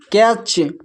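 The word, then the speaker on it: catch: अब यहां पर देखिए यहां पर टी सी एच एक साथ है। तो यहां पर भी टी साइलेंट है। इसको पढ़ते हैं कैच।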